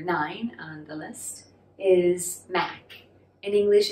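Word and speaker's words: 馬: m a ma right ma in cantonese this is pronounced ma the low rising ma and it means horse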